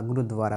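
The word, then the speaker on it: gurdwara: and eating together in গুরুদ্বারা গুরুদুয়ারা গুরুদুয়ারা উচ্চারণটা ঠিক cooking and eating together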